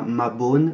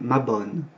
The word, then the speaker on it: Mabon: Donc avec un O ouvert, pas un O fermé, on ne dit pas Mabon, mais Mabon.